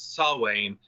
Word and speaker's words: Samhain: Yeah, it's a Samhain, although the M's not pronounced, so it's Samhain.